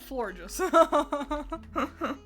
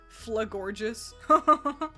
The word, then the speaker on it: Florges: Florges. You know how bad I want to pronounce it Flagorgeous? With my whole heart, I want to pronounce it Flagorgeous. Like how Critter has spelt it there.